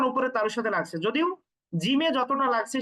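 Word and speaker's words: ج: আচ্ছা, এই 3টা হরফকে একটু আমরা কঠিন ভাবে উচ্চারণ করব, শক্ত ভাবে। জিম, জিম, একেবারে গম্ভীর উচ্চারণ কিন্তু, জিম।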